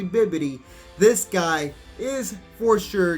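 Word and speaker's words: Bibidi: duration of the turn so bobbidi or should I say baby I think I have been pronouncing him wrong it's actually bibbidi this guy is for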